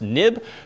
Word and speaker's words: xib: called a nib file even though it's xib it's historically pronounced nib being next step interface